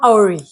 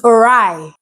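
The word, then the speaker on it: awry: recently found out that this word is not AI it's orai and I've been pronouncing as a for the longest time how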